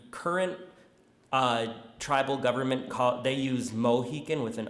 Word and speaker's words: Mohican: with an A, so Mohican. But the real pronunciation is somewhere in between the two.